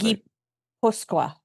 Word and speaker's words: Gipuzkoa: It's pronounced Gipuzkoa.